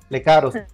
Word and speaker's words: Lecaros: Muy bien, pues, ¿se pronuncia Lecaros o Lecaros, mi querida? Lecaros.